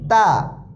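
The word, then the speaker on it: ت: তা, তা পাতলা হবে। তা, তা, তা, তা। জিহ্বার আগা সামনের উপরের দাঁতের সাথে লাগবে। তা, তা। হালকাভাবে মুখ খুলবে। তা, তা, তা।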